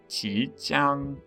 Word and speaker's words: Qijiang: But for the first part, the Qi part, it is a second tone, which means that it should be pronounced with a rising tone, so Qi. And Jiang is a first tone, meaning it should go straight across with a high tone, so Qi Jiang.